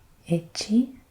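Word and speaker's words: いち: here how to pronounce it so it is pronounced ichi it's and it means one so the first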